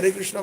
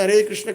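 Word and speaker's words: हरे कृष्ण: Mispronunciations can happen even while chanting the Har Krishna Mahamantra. One has to be a little careful once we know what it is. Not Har Krishna. Hurry Krishna Krishna Krishna H Har Rama.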